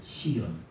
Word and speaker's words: צִיוֹן: 용어로는 이렇게 쓰는데 원래는이 시온산의 이름이 뭐냐면은 아 이렇게 치온이에요. 치온 요렇게 요렇게 쓰고 요거를 뭐라 그러냐? 치온이라고 발음을 해요. 뭐라고 발음한다고요? 어, 원래 시온산이 아니라 치온산이에요. 뭐라고요?